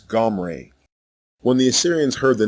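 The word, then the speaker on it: עמרי: It is not an E vowel as in the version Omri. The correct way to say the king's name is Gomre.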